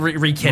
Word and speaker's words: Rekit: Wreck it, spelled like that. Rekit it. Rekit.